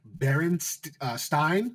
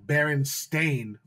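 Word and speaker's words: Berenstain: like it's uh people most people look like uh or spell it like baron stein like s-t-e-i-n but it's spelled like baron stain uh baron and then uh uh s-t-a-i-n and it's just like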